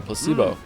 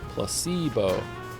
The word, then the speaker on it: placebo: me precocious placeo oh Placebo the stress is on the middle Placebo placebo very good you're